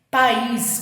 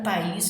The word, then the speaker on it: país: País, cuidado com país, que muita gente acha que é oxítona. Não, país é hiato.